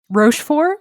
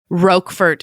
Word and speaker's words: Roquefort: Rochefort, is that what it was? Roquefort is the way I've always heard it pronounced.